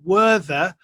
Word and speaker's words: Werther: I am in a little town called Werther, which I suppose in English would be pronounced Werther.